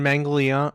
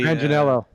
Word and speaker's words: Manganiello: John Mangliano.